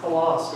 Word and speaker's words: Hlas: I don't know that I ever asked how your last name is pronounced before. Hlas? Hlas, yeah.